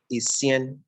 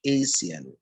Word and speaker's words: Acien: So my name is Acien. That's how it's pronounced, but people say Acien.